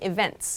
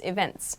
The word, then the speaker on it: events: Regarding your second question, we do actually pronounce the T here in events, events.